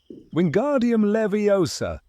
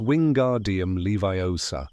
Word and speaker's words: Wingardium Leviosa: "Wingardium Leviosa!" he shouted, waving his long arms like a windmill. You're saying it wrong. Harry heard Hermione snap. It's wing guardium leviiosa. Make the gar nice and long.